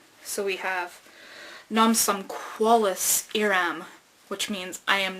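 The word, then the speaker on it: Non sum qualis eram: Well, we find out that it's Latin, and he's just kind of pronouncing it phonetically. So we have "Nam sum qualis eram," which means I am not who I was.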